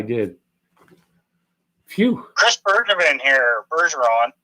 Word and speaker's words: Bergeron: Bergeron. Sorry, Chris, I butchered your name. Scottish, Nova Scotian, not French.